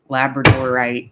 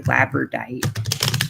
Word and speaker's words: labradorite: of labradorite lab laborite I I think I always say it like the dog labradorite but I think other people say labite I like the dog way um let's see what